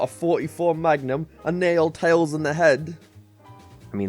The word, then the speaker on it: Tails: gotta admit you said teals everyone else calls them tails oh well that's just his northern irish mark his name is tails not teals unless we've been saying